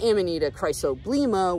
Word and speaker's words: Amanita chrysoblema: authoritative sources, that Amanita muscaria var-gesuai is actually Amanita chrysoblema is how you pronounce it.